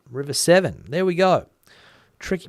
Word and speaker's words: Severn: Andrew, River Severn, pronounced like the number 7. River 7.